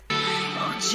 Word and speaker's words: oggi: Viu a pronúncia do GG? Ou melhor, do G. O G no italiano é pronunciado de forma explosiva, né?